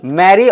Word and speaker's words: marry: Pronunciation दोनों का same ही निकलता है जब भी आप साउंड करते हैं, मैरी मैरी।